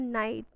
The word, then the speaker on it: knight: wanted to become a knight, this is a picture of a knight who wanted to do some adventurous things in his life. Knight, K-N-I-G-H-T, in which K is silent. We'll pronounce it as night, N-I-G-H-T.